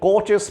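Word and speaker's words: Koch: প্রথমেই ভাইরাসটিকে আইসোলেট করলেন coaches postulate অনুসারে বিখ্যাত বিজ্ঞানী রবার্ট কোচ বা রবার্ট কোকো কেউ কেউ বলেন ব্রিটিশ উচ্চারণে দুটোই প্রচলিত কিন্তু প্রকৃত উচ্চারণ তো সেই জার্মান বিজ্ঞানী এই তার একটা আবিষ্কার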